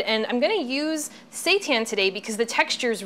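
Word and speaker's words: seitan: be made out of Satan now Satan let me just explain what that is first of all it's spelled SE i t an I know it sounds like something else but it's actually wheat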